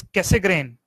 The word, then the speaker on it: Cassegrain: The name of this telescope, every time you know, it's difficult for me to pronounce, it is Cassegrain.